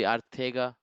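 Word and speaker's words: Arcega: tweet it's not see it's pronounced at as th instead of see it should be Artega Whiteside whatever dude wait I'm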